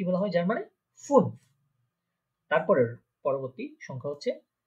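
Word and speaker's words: fünf: তারপরে হচ্ছে ফুন, ফুন, খেয়াল করেন এখানে একটা উমলাউট আছে। আমরা ফার্স্ট ক্লাসে দেখেছিলাম যে উমলাউট থাকলে ঠোঁটটা একদম গোল হয়ে যাবে সম্পূর্ণ।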